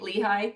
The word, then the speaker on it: Lehi: And am I pronouncing it right? Lehi.